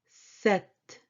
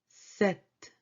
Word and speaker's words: sept: Sept. Sept. Sept. This P is not pronounced.